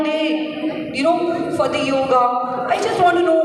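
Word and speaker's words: योग: this misconception of yoga it is wrongly pronounced it's it is not yoga it's yog okay so I'll talk about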